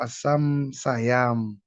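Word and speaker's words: asaṁśayam: How do you pronounce that one, Prabhu? Asam Sayam.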